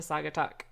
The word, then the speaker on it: Saugatuck: you're going to correct me on how to pronounce this. maybe. Saugatuck Brewing? Sagatuck. Saugatuck. Yeah, it's Sagatuck.